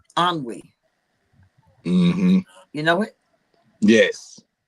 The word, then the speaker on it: ennui: It's called ennui.